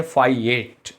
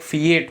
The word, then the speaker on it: fiat: Next word है फाइएट, FIAT, फाइएट। और फाइएट की अगर बात करें तो फाइएट और दो प्रोनाउंसिएशन होते हैं इसके, फाइएट होता है, एक फीएट होता है।